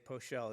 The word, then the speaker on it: Peschel: Peschel, Dashiell Leeds, Bruce Carney, Adam Singer, Panama Bartholomew. Hi, good afternoon. Poschel is the way I pronounce it, but you pronounced it more accurately than I do myself.